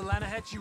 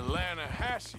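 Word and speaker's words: Lannahechee: The other day, I rode down to the Lanahatchee River. I caught some beautiful steelhead trout. You mean the Lanahatchee River? No, the Lanahatchee. It runs right near here. Yeah, but it's pronounced Lanahatchee.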